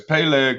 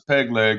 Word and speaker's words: Peleg: There's Peleg, which I used to pronounce as peg leg as a kid.